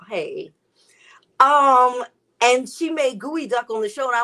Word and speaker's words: geoduck: of all it's not geoduck all right i know feels so weird um so it's it's gooey duck it's gooey duh it's spelled g-e-o duck but it's pronounced gooey duck and let me tell